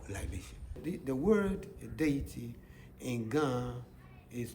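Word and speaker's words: Wɔ: The word deity in Ghana is called, we have names.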